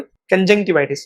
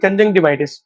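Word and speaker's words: conjunctivitis: To pronounce this word कंजक्टिवाइटिस। तो मेरे कंजक्टिवाइटिस हो गया है। I have got कंजवािटिस। I have got कंजक्टिवाइटिस।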